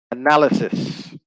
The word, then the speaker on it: analysis: on the first syllable it switches to the second syllable with the noun and the adjective form